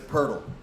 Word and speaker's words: Poeltl: Like, Well, there's Jacob Poeltl is really spelled Jacob Poeltl, Jakobpoetl, right? But it's Poeltl.